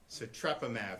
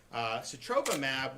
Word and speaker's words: sotrovimab: How do you pronounce it? Sotrovimab.